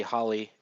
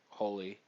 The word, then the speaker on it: Holly: it is Holly not hly like I know they um pronounce it like that but that's just how JP Japanese people pronounce the O It's supposed to be Holly because it's an English name um so yeah um